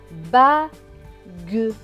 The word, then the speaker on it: bague: G et U, ge. Avec le E, cela va donner ge. Donc ce mot va se prononcer bague, bague.